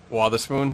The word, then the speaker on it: Wotherspoon: Is it Wotherspoon? Is that how it's pronounced? Wotherspoon, yeah.